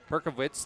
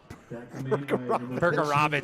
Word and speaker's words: Perkerewicz: It was Jacob Perkovitz that was able to tackle it. Perkarovich, sorry. It's a hard name to say, I know. Name. It is. Perkarovich. It's spelled Perkerewicz.